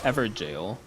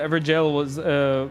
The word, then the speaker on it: Everjail: It's pronounced the exact same way as jail, and it means the exact same thing.